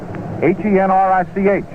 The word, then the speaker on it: Henrich: Tommy Henrich, Henrich, it's pronounced as though there was a K on it.